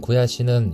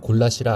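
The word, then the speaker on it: gulyás: 없다 헝가리의 전통 수프인 구야시는 유럽 전역에서 유명한 요리이다 일반적으로 굴라 시라 알려져 있지만 헝가리어 본토 발음은 구야 시이다 라씨가 왜인지 한국에서는 육계장과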